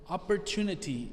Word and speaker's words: opportunity: one's a longer word opportunity it means chance the letter o that comes after the letter p reads as an e sound so repeat after me